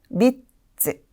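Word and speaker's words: 三つ: 자, 세 개에서는 밑즈, 밑즈. 네, 여기에서도 미츠까지 스펠링을 포함하여 세 개라는 단어로 기억해 주셨으면 좋겠습니다.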